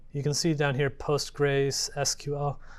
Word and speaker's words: PostgreSQL: So you can see down here PostgreSQL. The way you pronounce that aloud is Postgres, just so you know.